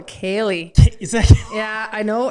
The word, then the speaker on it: ceilidh: It's called the Sealed. So anyways, it's a kitchen party. So I butchered it. It's CEILIDH. Oh, a Kaylee.